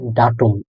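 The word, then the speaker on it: Datum: ডে দিয়ে এ আ এ ও এম একত্রে ডাটুন ডাটুন অর্থ তারিখ নিজের যেটা ডেট ওটা হল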